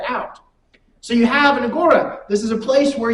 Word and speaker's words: agora: correctly an Agora uh some might pronounce it agura but I think it's Agora um it is the